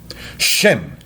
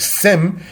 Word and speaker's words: Shem: Shem is the Hebrew word, Sem is the Greek translation of such. Since Greek does not have a sh syllable, it is thus metathesis said as Sem instead of the Hebrew Shem.